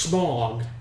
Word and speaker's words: Smaug: It's pronounced Smog. Smaug? It's spelled out smog, but it's Smaug.